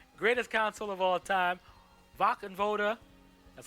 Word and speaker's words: Wachenroder: WACHENRODER, that's how you say it, WACHENRODER, was a